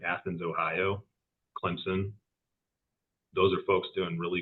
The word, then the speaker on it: Clemson: It's Clemson. You got to put a P yeah.